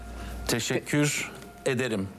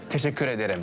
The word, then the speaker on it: Teşekkür ederim: Teşekkür ederim. Teşekkür ederim.